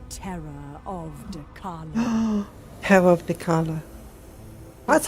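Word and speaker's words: Dechala: Terror of Dakala. That's how you pronounce the name.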